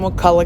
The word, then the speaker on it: Wakulla: This morning it was absolutely beautiful, so I decided to take a drive to Charles Adelson new home at the Wakulla Correctional Institution located in Wakulla County.